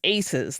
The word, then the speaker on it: AISES: This organization exists today as ACES, that is spelled AISES.